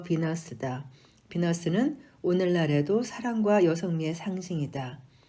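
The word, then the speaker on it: Venus: 아프로디테는 로마 신화에서는 베누스가 됐으며 영어 발음으로 비너스다.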